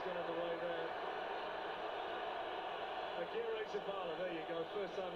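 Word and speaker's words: Agirrezabala: Akira Zabala, there you go.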